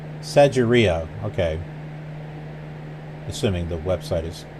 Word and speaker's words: Sigiriya: Okay, the location we're going to, I was thinking was like Sigiriya. Let's see if that's correct. Sigiriya. Sigiriya, okay.